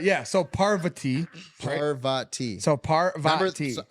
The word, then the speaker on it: Parvati: Parvati parva so parv someone actually sent us how to pronounce that like a YouTube video it it was like parva and I was I was saying I was saying pavar or something pavar yeah let's